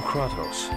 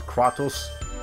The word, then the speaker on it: Kratos: Also, important thing to keep in mind, in this game they pronounce it Kratos. If you come from God of War, they pronounce it Kratos over there, so and that's how you know the difference.